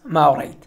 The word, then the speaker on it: ما أريد: ما أريد means I don't want, but when you pronounce it quickly and fast, it becomes ma'arid, ma'arid, ma'arid, ma'arid.